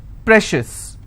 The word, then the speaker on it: precious: Precious. How many syllables again? Precious. I will stress on pre.